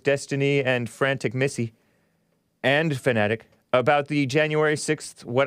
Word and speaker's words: Fanatiq: I call it Fanatiq, but he pronounces it Fanatic.